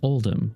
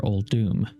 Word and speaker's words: Uldum: We know this as Uldum or Uldum, really depending on how you pronounce it.